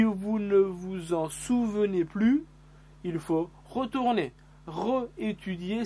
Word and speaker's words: plus: vu il est le plus grand il parle le plus lentement possible il est le plus grand ils parlent le mieux ici on le prononce jamais le s de plus il est le plus